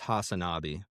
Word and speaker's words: Hasanabi: It's Hasanabi. Hasanabi. Okay, perfect. All right, yeah. Hasan Piker, also known as Hasanabi, is an American online streamer, influencer, and left-wing political commentator.